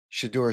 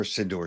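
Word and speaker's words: Shedeur: Legendary Shador Sanders or Sidor Sanders. Shador Sanders I guess is the proper pronunciation.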